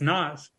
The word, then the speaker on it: Nas: Is it pronounced Nas or Nas? Is it Pam or Pam? I mean, it's Nas.